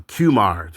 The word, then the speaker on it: Qimir: guy dagger uh I'm sorry um um uh cumar that's how you pronounce his name but um he had some